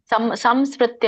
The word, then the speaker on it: ಸಂಸ್ಮೃತ್ಯ: ಬರೋದಿಲ್ಲ ಮಾತಾಜಿ ಅಲ್ಲಿ ಸಂಸ್ಮೃತ್ಯ ಅಲ್ಲ ಸಮ ಹೇಳಬಾರದು ಸಂಸ್ಮೃತ ನಂದು ಉಚ್ಚಾರಣೆ ಕೇಳ್ತಾ ಇದೀಯಾ ಎಲ್ಲರಿಗೂ ಹ ಕೇಳಿಸ್ತಿದೆ ಕೇಳಿಸ್ತಿದೆ ಮಾತಾಜಿ ಸಂಸ್ಮೃತ್ಯ ಸಂಸ್ಕೃತ್ಯ ಸಮ ವರಬೇಕು ಅಲ್ಲಿ ಸಮ ಅಲ್ಲ ಸಮ ರಾಜನ್ ಸಂಸ್ೃತ್ಯ ಸಂಸ್ೃತ್ಯ